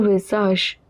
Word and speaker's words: visage: Le visage, AGE at the end is always pronounced as age. S is in the middle of two vowels, it is pronounced as Z.